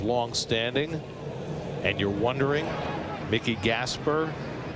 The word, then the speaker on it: Gasper: and you're wondering, Mickey Gasper, not related to Rod Gasper, they spell their name differently. Rod Gasper was G- A S P A R, right? Mickey is E R. pronounced the same spelled differently.